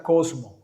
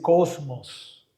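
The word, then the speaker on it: κόσμος: Mundo en el original griego en que se escribió el Nuevo Testamento se pronuncia cosmo o se dice cosmos.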